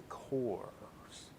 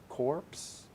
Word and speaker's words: Corps: uh tales of the cores corpse no core right that's how you pronounce that silent p s corpse i don't know